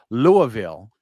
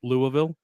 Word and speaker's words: Louisville: Well, Brian, speaking of your vacation, you went to Louisville, I believe is the way it's supposed to be pronounced.